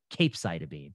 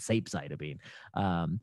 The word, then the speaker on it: capecitabine: treatment should get Xeloda, capecitabine, or Xeloda. Oh, yes, this was the great capecitabine gate. Pre-COVID, the things people used to get angry at me for were pronouncing capecitabine, sapecitabine. Post-COVID, they got angry at